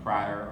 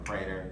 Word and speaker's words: Prater: We've got over on Prater or Prater, depending on what part of the country you are from, how you pronounce it.